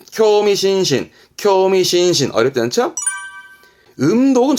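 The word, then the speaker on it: 興味津々: 발음은 쿄미신신, 쿄미신신.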